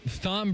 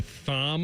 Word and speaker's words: Thom: people saying that when Thom Brenneman got, there were a lot of people. Did you say Thom Brenneman? He keeps the H. So I know he keeps the H, but doesn't pronounce the H.